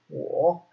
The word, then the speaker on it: 我: Okay, and this is pronounced 我.